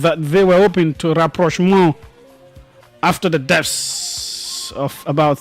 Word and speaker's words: rapprochement: It is spelled rapprochement. Rapprochement. It is pronounced its French way.